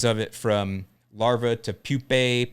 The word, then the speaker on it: pupa: it from larva to pupae pupa pupa pupa i like that word pupa pupa but uh took